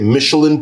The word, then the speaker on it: Michelin: You can take your car and get Michelin tires put on your car. Even today, I think the French would say Michelin, but we're going to go with the English pronunci pronunciation Michelin.